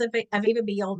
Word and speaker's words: Aviva Behel: So first of all, my name is Aviva Behel, not pronounced at all like that little name you see on the screen there if you're watching that.